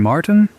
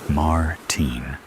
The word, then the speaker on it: Martin: Martin, he pronounces Martin in the American way rather than the way I prefer it. Martin.